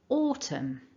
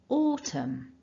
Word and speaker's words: autumn: occur with this word so building it all back together repeat after me nice and loud stressing that first syllable autumn again autumn so we're back to